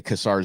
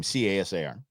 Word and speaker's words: Casar: I'm going to say Casar. That's how we pronounce his name. Casar.